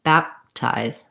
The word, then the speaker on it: baptize: all into the tea baptize baptize here we have another example of silent e making the i say its name ties and then a z sound at the end baptize when i add the